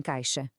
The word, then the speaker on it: caixa: Às vezes soa como um X, por exemplo, em caixa, outras vezes soa como CS, como em táxi.